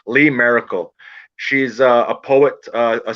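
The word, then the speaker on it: Lee Maracle: chance look up lee miracle l-e-e and her last name is spelled m-a-r-a-c-l-e not m-i like miracle but miracle m-a-r lee merkel she's a poet uh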